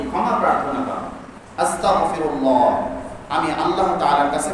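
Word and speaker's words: أستغفر الله: আলহামদুলিল্লাহ তাহলে কি সম্পূর্ণ অর্থ পাই যাবে না আস্তাগফিরুল্লাহ আরবিতে হলো কি গাইন এরপরে বাংলায় হলো কি গফ আস্তাগফিরুল্লাহ সবাই বলেন আস্তাগফিরুল্লাহ আস্তাগফিরুল্লাহ আস্তাগফিরুল্লাহ খবরদার আমাদের মুখ থেকে যেন কি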